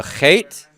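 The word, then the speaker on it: ח: h okay so so h with the dot it's like you're spitting yes somebody in front of you should get some saliva on the back of their neck when you pronounce this one okay so hate on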